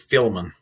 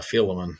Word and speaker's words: Philemon: philemon um you yeah has everybody pronounced that philemon you know for years i always pronounced it filming uh philemon so i guess everybody